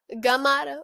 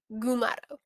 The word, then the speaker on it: Gumato: mugato gumato i think that's that's how you pronounce it mug it's not megado gamato is mugado gumato um so without further ado let's get started